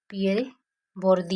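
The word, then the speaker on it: Pierre Bourdieu: पहला है हमारा पियरे बोरुदी, पहले फर्स्ट, उसके बाद जो है हमारे पियरे हैं, पियरे बोरुदी, ये इनका प्रोनाउंसिएशन होता है, आप लोग जो चाहो वो कर सकते हो ये लर्न करने के लिए।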